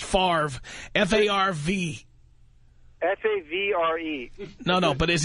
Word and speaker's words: Favre: Now you have a son named Favre.